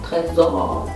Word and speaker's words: Trésor: Jetzt habe ich ein Parfüm von Lancôme, Trésor. Eigentlich wird das Lancôme, Trésor. So wird das eigentlich ausgesprochen, ne?